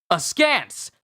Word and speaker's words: askance: Askance.